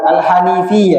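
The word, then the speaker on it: الحنيفية: analfiyata ibrahim anudallah wahdahu sesungguhnya alhnafiyah alhanaf alhanifiyah ya bukan alhanaf alhanifiyah bacanya iya sesungguhnya agama al-hanifiyah itu adalah millatu Ibrahima.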